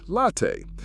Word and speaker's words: latte: If you want a milky coffee that's not a cappuccino, you're looking for a caffè latte, pronounced caffè latte.